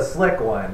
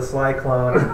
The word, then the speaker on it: Slick One: And so it's actually the Slick One. Okay. But people think it's the Sly Clone. It's I pronounced it wrong.